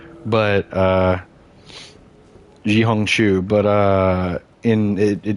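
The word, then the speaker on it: 小红书: competitor called red note it's like xiong shu is how you pronounce it in Chinese but or in Mandarin but uh jiong chu but uh in it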